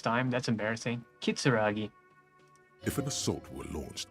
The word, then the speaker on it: Kitsuragi: for someone you Kim katsuragi as you approach he Narrows his eyes and extends his hand in greeting I've been saying his name wrong all this time that's embarrassing kitsuragi if an assault were